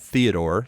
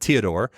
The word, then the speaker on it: Theodor: Not Theodore, spelled Theodore, but pronounced Teodor, was a bookbinder from Agsburg, Bavaria.